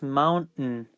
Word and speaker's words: mountain: letters is not there you have to jump from this letter to this one without pronouncing the I the a in the and the I so the result is mountain and you have three